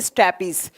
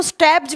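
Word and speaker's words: stapes: पहला पहले का लिखेंगे स्टेपीज इसको स्टेप्स भी बोला जाता है कभी-कभी ना इसको प्रोनाउंस करते हैं ना स्टेपीज या स्टेप्स भी बोलते हैं।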